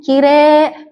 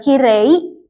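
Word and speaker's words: きれい: Jadi di sini meskipun penulisannya dia huruf I, dia fungsinya memperpanjang huruf E-nya. Jadi dibacanya kire bukan kirei.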